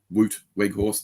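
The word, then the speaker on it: Weghorst: gone out and got Weg horse you know woot wig horse that's how you say it isn't it like he's a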